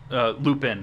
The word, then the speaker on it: Lupin: yeah, Professor Lumen and a sociopath. Yeah, which is awesome. His name is not Professor Lumen if you're a nerd like Lup, us. Lupin, not Lumen.